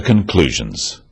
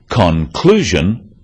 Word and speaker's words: conclusion: one syllable is stressed the wrong stress makes it hard to understand so conclusion not conclusion products not products even more important in